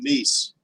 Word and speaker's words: Nice: He's in Nice.